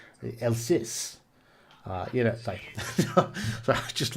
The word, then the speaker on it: Alsace: however you pronounce that i think it's alsace you have to say it with uh that sort of you know el sis uh you know i